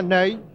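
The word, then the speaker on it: Nenê: le jeune avant-centre brésilien nêne cela s'écrit comme notre maréchal ney mais ça se prononce name et il peu voici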